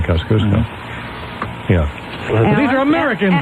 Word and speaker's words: Kosciuszko: Well, they say that's the Polish pronunciation, Kosciuszko.